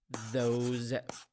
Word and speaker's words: those: have a tip here the s in these words pronounced as as the sound those those those these so we have this